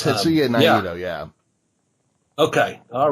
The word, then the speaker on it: Tetsuya Naito: at which Tetsuya Naito became the IWGP World and Intercontinental Champion.